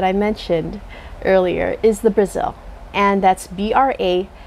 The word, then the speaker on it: Brasil: Now, the last cultivar that I mentioned earlier is the Brasil, and that's Brasil. It's spelled with an S, not with a Z. And we know that for a fact because it's patented.